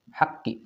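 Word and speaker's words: حق: Nah, ada haqqi. Di mana haqqi ini huruf qaf, huruf qalqalah dan di atasnya ada tasdid. Sehingga kita pun perlu membacanya sama seperti prinsip yang ini. Yaitu pantulkan disertai dengan tekanan.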